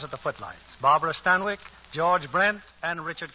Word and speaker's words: Stanwyck: Chicago Daily News Barbara stanik finds what's that stanik well that's how they said Stanwick in England stanic it rhymes with zanic oh and if zanic